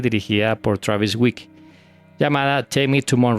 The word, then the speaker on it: Weekes: Travis Weekes. Thanks for joining us, Travis. Yes, thanks, yes. The name is pronounced Week.